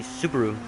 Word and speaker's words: Subaru: it um since we pronounce it longer so subaru but but which is like it's they're stretching the vowels but in but i think it's really supposed to be subaru and you kind of pronounce the a as a it's a kind of begins to sound like the a is a u the a becomes like the hue almost i mean not really